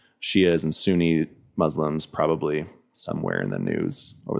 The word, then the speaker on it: Shia: The Shia is how you say it.